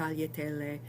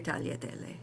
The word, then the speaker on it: tagliatelle: And it's something like the lia in million. So if you can say million, and I know you can say tagliatelle.